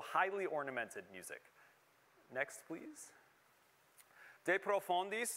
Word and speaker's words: De profundis: ornamented music next please de profandis and notice i'm using a french latin uh pronunciation of that that's also